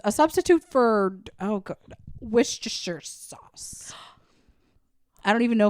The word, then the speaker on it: Worcestershire: was was Worcestershire sauce I was adding so many extra syllables that I didn't even need like Worchester Shire sauce and I just it